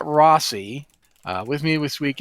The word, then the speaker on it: Rossi: this week rosi I can't say my own name this is the second time this has happened I've mispronounced my own name twice with the same way too yeah so yeah I am Rossy uh with me this